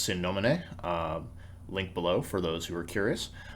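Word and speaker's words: Sine Nomine: For folks who are not familiar, Godbound is an RPG from, I believe it's pronounced Sin Nomine, link below for those who are curious.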